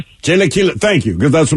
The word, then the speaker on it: Chilaquiles: Chilaquiles. Chilaquiles.